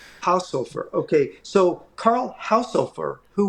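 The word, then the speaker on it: Haushofer: we would pronounce it house really with strong pronunciation house Hofer house Hofer house Hofer okay so Carl Houser who was the teacher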